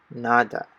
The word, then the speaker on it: nada: are pronounced right so the first one is nada which means nothing and so the a is pronounced just as the a in father right so nada which means